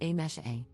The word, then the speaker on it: Amise: For context, my name is written as Amise, but is pronounced as A-mesh-A. So my name consists of just 3 sounds and is completely pronounceable